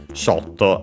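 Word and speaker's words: ショット: Shotto, of course, shot, but we should have seen that before and should be accented as usual, yes, on the first syllable.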